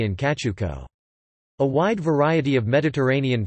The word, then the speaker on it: Cacciucco: Cacciucco, Italian pronunciation, Cacciucco, is an Italian fish stew native to the western coastal towns of Tuscany and Liguria.